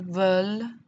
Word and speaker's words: veulent: Nous voulons, vous voulez, ils veulent, elles veulent. Remember, I'm never pronouncing that ENT, it's just there for show to make sure I say the L.